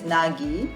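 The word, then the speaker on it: 凪: this kanji mixed together with wind and stuff pronunciation is nagi express no wind on the surface of the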